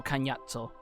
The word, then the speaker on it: Cagnazzo: And they had to be like, alright, are we gonna do Cognazzo or Cagnazzo? And they went with the proper Italian pronunciation, so Cagnazzo.